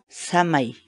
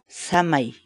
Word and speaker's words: samay: de vídeos en la que te enseñamos a pronunciar algunas palabras en quechua así que nuestra palabra del día por hoy es shamah y shamah y shamah la palabra quechua sana y en español